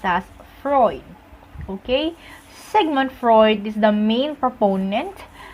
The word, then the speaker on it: Sigmund: called segment Freud yes it is not Sigmund fraud but segment Freud okay you can search